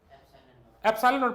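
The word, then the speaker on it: epsilon naught: एप्सिलॉन नॉट पढ़ते हैं इसको, स्पेलिंग मेरे से मत पूछना। एप्सिलॉन जीरो लगा मतलब नॉट, ई से प्रोनाउंस होता ना एप्सिलॉन।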